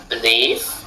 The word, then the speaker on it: belief: Pareil pour belief. On dit believe se prononce à peine mais le livre de la fin c'est leave. Believe.